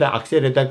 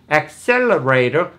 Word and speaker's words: accelerator: 기회가 없었습니다 예를 든다면 자동차에 쓰는 레이더를 악셀레 악세레다 그랬습니다만 원래 영어의 원은 발음 accelerator 그렇게 발음을 합니다 그 원음을 듣지 못하면은